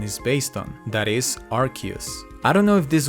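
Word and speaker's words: Arceus: any vowels in between the name of the Pokémon god in Japanese is pronounced as arusu which would favor the arus pronunciation but apparently we have a winner in archus the most difficult shiny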